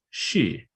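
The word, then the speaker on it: 獅: Phonologically, it's pronounced shi, and shi can be associated to the meaning of this animal. However, there are dozens of characters in classical Chinese that are all pronounced shi, or variations of that with subtle inflections and differences in various dialects. And if you speak Chinese, you probably know I probably butchered that.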